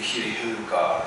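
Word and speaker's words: Śrī Heruka: So say Shri Heluga, Shri Heluga, Shri Heluga.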